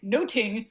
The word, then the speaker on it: nothing: we don't pronounce nothing noting which is apparently the way they used to pronounce it something much more like noting and so it was